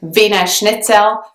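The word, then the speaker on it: Wiener Schnitzel: is an Austrian dish Vina schnitzel and that's how it's pronounced in British English I believe the pronunciation is very close to how it would be pronounced in German so there aren't a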